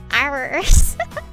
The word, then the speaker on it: IRyS: It is not IRyS. It is just IRyS. Yes, like the flower.